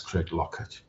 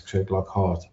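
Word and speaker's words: Craiglockhart: Craig Lockhart is written Craig Lockhart, but in Scotland we pronounce it as Craig Lockett.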